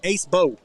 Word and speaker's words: Acebo: telling me that uh should be pronounced ace bow so for the quarterback